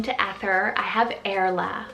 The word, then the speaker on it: Ether: next up a little vintage is the name ether spelled e-t-h-e-r this one's derived from the persian ester meaning star then for a great sibling name to ether i have erla spell and this one also